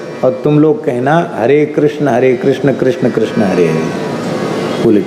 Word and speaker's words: कृष्ण: कोई किस किस कहते, कोई कैस कैस कहते, हरे कैस कैस कैस हरे हरे। कृष्ण नहीं बोल पा रहे थे बेचारे गांव के लोग। अभी भी एकदम शुद्ध कृष्ण शब्द का उच्चारण लोग नहीं कर पाते। कृष्ण ये शुद्ध उच्चारण है, पर इतना सावधानी